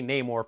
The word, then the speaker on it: Namor: as Namor or Namor he pronounces it no more the wakandans say Namor for some reason I don't know why I mean in a way I kind of get it because I always pronounce the character's name Namor until I saw this movie but if he's gonna introduce himself as num or to have everyone else pronounce it differently is just weird but